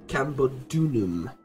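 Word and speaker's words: Camulodunum: it properly in and pronounce it Campbell dunam and the deulim that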